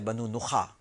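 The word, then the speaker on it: بنو نخع: نخا بھی کہتے ہیں، ویسے صحیح تو تلفظ ہے بنو نخا، تو نون خے اور عین، بنو نخا، آخر میں عین ہے۔ اور اس کے بارے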